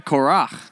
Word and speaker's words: Korach: Is it the ch? Okay, Korach. Nice.